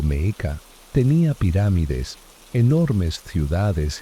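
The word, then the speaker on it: Mexica: El pueblo Meshica, pronunciado Meeka, tenía pirámides, enormes ciudades y rituales que impactaron y fascinaron a los españoles.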